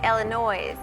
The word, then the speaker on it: Illinois: I know if you say Illinois, you've said it wrong. So therefore, there is an S at the end of Illinois.